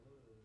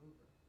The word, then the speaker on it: Louvre: about, yeah, I'm gonna go over to the Louvre, and I'm like, it's pronounced Louvre. Are you sure? I think it's the Louvre.